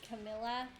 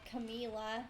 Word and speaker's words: Camila: I also really like the songs he did with Miley and Camilla. Or Camila, there we go, let me say it right.